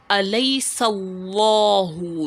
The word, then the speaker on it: أليس الله: If you notice, I am thickening the word Allah. I am not saying Allah, despite the fact that I can say it, Allah, Alaysa Allahu. But the right way to say it is Alaysa Allahu. You make it thick, and the determiner here